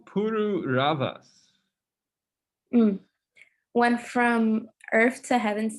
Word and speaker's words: Pururavas: When King I don't know how to pronounce that name. It's Pururavas.